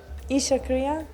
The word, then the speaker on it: Isha Kriya: I knew, I just wanted to see what she would say, but yeah, Pronounce it. try it. Isha Kriya?